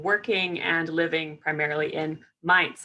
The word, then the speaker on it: Mainz: and living primarily and mites actually is how you say it yeah it's confusing